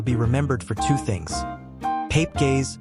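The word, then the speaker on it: Pape Gueye: Pape gays pronounced pop gay winning goal and the 20 minutes the world stood still.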